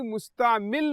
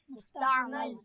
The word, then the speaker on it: مستعمل: کا بیان، ٹھیک ہے، یعنی مستعمل نہیں ہے بلکہ اس کا تلفظ کیا ہے؟ مستعمل۔ ذرا مل کر بولیں گے، کیا ہے؟ مستعمل۔ ہاں، میم کے اوپر کیا ہے؟ زبر۔ مستعمل نہیں ہے، یعنی میم کے نیچے زیر نہیں ہے بلکہ میم کے اوپر